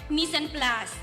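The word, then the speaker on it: mise en place: we begin let us define first the word miss and plus which is spelled as m i s e space e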